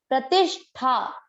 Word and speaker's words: प्रतिष्ठा: प्रतिश टी के बाद में आधा श षटकोण वाला है। तीनों स में डिफरेंस उच्चारण में जरूर समझ में आए। प्रतिष्ठा, प्रतिष्ठा।